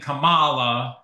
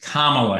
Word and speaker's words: Kamala: Trump and some other people are purposely saying Camala it's kind of like remember how people would say Barack Hussein Obama when he was running you know so it is Kamala Harris we should pronounce everybody's